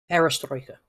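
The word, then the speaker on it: perestroika: Uh and I think you actually talked about this with the glass nod the uh am I pronouncing this right? Pastroka aristoka there you go.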